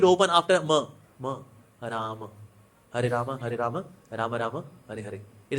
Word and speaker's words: Rama: So mouth should open after ma, Ram, Hare Rama, Rama Rama, Hare Hare. It is not Hare Ram, Ram Ram, Hare Hare, Ram Ram. No, it is not Ram, not Ram. It is Rama, Rama, Hare Krishna, Krishna, Hare Krishna.